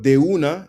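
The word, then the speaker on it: de una: They say they so they change it's kind of like Spanglish, but dea is of one or from one and it's pretty much like say less, right? Dea, right? Emphasis on the de right.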